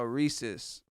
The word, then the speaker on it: rhesus: another animal foreign Reese is a character no rhesus it's a kind of monkey rhesus I don't know